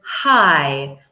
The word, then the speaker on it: high: so we have wide deep and hi not hi hi just like hi okay gh is silent Paul what are the